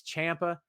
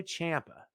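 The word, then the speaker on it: Ciampa: tv and on podcasts i don't know how to pronounce it it's champa it's fine call him whatever you want but out straight out of the guy's mouth himself is tommaso champa who's calling it something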